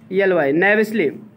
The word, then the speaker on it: knavishly: नेविंगली, एक शब्द लिखो, नेविसली, सॉरी नेविसली, KNAVISHLY, KNA में के साइलेंट रहा है, KN से कोई शब्द शुरू होता तो के साइलेंट आता, जैसे नॉलेज, न्यू, ठीक है। KNAVISHLY, नेविसली।